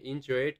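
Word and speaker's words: inchoate: next one इज इनचुएट इसको pronounce करते हैं इनचुएट के करके और इसका जो पार्ट्स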